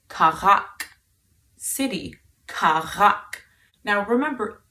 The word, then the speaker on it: քաղաք: To say city in Armenian, you can say քաղաք, city, քաղաք. Now remember, there's that r sound in there, which is like the French R, and I soon will